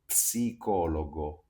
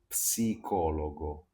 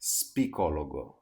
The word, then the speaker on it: psicologo: In Italian, this word is quite similar to English, but you have to remember that the P in Italian is always pronounced.